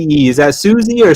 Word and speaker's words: Suze: How do you call SUZE? Is that Susie or Suisse or how do you say that? Oh, Suze. Suze.